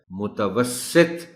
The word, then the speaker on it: متوسط: کبھی بھی پڑھا جائے تو بھی لوگ اس کو متوسط پڑھ جاتے ہیں. درست تلفظ اس لفظ کا ہے متوسط، اور تے پر بھی جزم نہیں، جزم کے ساتھ پڑھ جاتے ہیں لوگ.